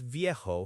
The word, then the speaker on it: viejo: For old, for a person, we typically use viejo for masculine, V-I-E-J-O, and vieja for feminine, V-I-E-J-A.